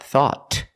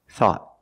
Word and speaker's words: thought: if anything we found thought at the end the tongue goes up it makes a stop T not thought but thought thought I thought you were